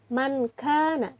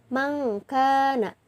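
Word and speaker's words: مَنْ كَانَ: Jadi bukan dibaca mankana tapi mangkana.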